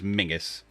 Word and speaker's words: Menzies: a guy's name was spelled memesies and was pronounced memses it was mingus it wasn't mingus yeah